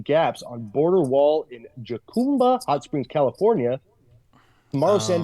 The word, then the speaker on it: Jacumba: illegally through open gaps on border wall in Jacumba, Hot Springs, California. Tomorrow, San Diego County officials will note, I think or will vote, pronounced Yacumba.